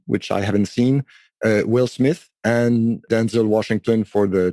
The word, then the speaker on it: Smit: Yeah, it's SMIT, no H.